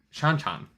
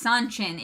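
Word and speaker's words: Seanchan: confronting the shan chan which i think is how people want me to pronounce it no it's sanchin it says it in the book people keep saying it's no it's not sean sean um so uh the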